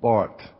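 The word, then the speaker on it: Barth: the name is call Bart BA rth you pronounce it with a hard T in German the German Swiss theologian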